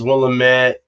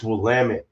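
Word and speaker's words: Willamette: Mount Hood wamit uh willam's how it's said actually out here everyone says willit it's wamit that's how the oregonians say it here from what I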